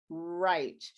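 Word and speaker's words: write: by the wr and the w is silent uh like in right it's not like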